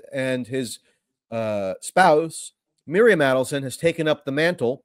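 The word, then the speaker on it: Adelson: the adelon the adelon you have to pronounce it actually Adon and the the hint for how to pronounce it is they add up their money um so what's unpredictable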